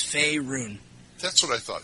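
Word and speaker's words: Faerûn: you pronounce that Fon it's Fay like the Fay elves F run that's what I thought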